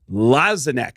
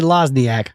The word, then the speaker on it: Lozinak: Wayne Lzanac. Is that how you pronounce it? There you go. Perfect. Y excellent. Wayne, don't don't say Lasniac because he'll he'll hit you.